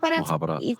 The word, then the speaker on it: Mukhabarat: And it's also known as the Mukhabarat. Is that the right way to pronounce it? Mukhabarat.